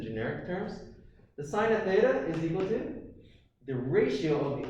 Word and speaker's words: theta: if you don't know this is theta that's how you say it it's the greek letter